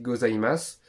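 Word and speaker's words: ございます: va dire aligato gosimas ça s'écrit gosimasu mais ça se dit gozaimas et c'est pour les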